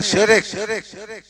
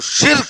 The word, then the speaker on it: शिर्क: और शिर्क है, शिरक नहीं। दोनों के स्पेलिंग में अलग अलग लिखो।